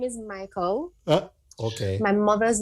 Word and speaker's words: Miqueal: Ladies and gentlemen, it is spelled Miqueal, but it's pronounced Michael.